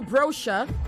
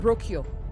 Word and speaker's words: brochure: It is also brochure, not brochure. Brochure, okay? Brochure is the word, not brochure.